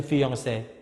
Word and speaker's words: fiancé: another word related to fiancé. Fiancé here is for the lady, and fiancé here is for the man. Okay? Just only different, a little bit, slightly different. 2E and 1E, but the same pronunciation.